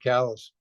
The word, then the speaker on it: Calais: why you live in Calais, huh? Instead. Yes. Yeah. Here I live in one of the most beautiful sounding French words in general in the world, and they have to pronounce it callous.